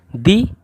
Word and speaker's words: the: जैसे कि दी ईयर, इसमें क्या है, यहाँ पे छोटी ई लगा हुआ, इसलिए यहाँ पे हम लोग इसे दी बोलेंगे। और दूसरा क्या है, द ईयर, यहाँ पे क्या है, जो प्रोनाउंसिएशन हो रहा है वो किससे हो रहा है, या से हो रहा है, इसलिए यहाँ पे हम लोग कैसे प्रोनाउंस करेंगे, द से प्रोनाउंस करेंगे।